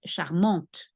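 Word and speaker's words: charmante: you say charm but if we put an extra e for the feminine then it becomes charmont you hear the T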